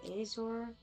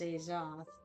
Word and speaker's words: Azoth: And I said Azor, but this is Azoth, so I got that name wrong.